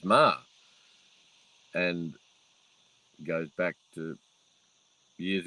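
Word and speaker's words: Meagher: is spelled m-e-a-g-h-e-r and he regularly gets called meaga so jack meaga so m-e-a-g-h-e-r and yet the pronunciation of it is ma and goes back to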